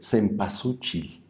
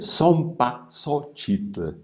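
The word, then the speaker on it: zempoalxóchitl: Entonces, no se dice cempasúchil, se dice zompasóchitl. Xochitl es flor. Zompa es muerte, flor de muerte.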